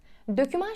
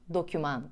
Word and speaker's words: doküman: elimize yanlış yerleşmiş kelimelerden bir tanesi de doküman döküman şeklinde duyuyoruz ama doküman olarak düzeltmeliyiz şoför beğenecek var cümlesini